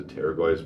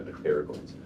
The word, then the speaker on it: pterygoids: I really think it's just pronounced the pterygoids, but I like saying the pterygoids, like the pterodactyl and everything else.